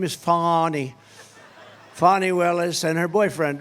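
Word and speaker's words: Fani: right has anybody Fon it's pronounced fonnie F A ni I that's Fanny but she likes it fonny when she became the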